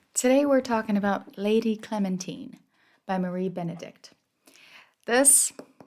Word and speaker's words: Clementine: the book we meet lady Clementine which rhymes with Josephine on her wedding day